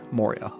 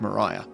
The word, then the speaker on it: Maurya: this book was written by Ash Moria which I actually learned wasn't pronounced Mariah years after reading it